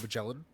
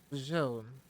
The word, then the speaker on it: Magellan: I was just being a shit, and I was doing that thing I do where I make Whoa. soft G's into hard G's. Magellan.